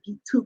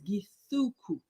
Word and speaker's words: Githuku: Is it how we say your surname, Gituku? Well, it depends on the day. I mean, the official pronunciation is Githuku.